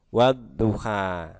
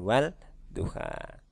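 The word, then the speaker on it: والضحى: Maka setelah membaca huruf di paling depan, misalkan wa di sini, maka tidak perlu membaca alif lamnya, tapi kita langsung masuk ke huruf berikutnya. Jadi dibacanya wadduha. Nah, begitu. Jadi bukan wal duha.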